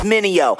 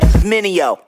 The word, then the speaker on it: Mineo: Try say my name, it's Mineo. Say it with me, Mineo.